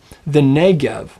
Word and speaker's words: Negev: It's the Negev. Now again, can you hear that double segolet, that eh?